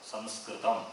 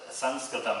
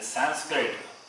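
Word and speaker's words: संस्कृतम्: Samskritam, not, and you can see the board. Samskritam, not Sanskritam, that is wrong. And Sanskrit, anglicized word. So that is accepted. Okay, Sanskrit. People who don't know, we can say Sanskrit.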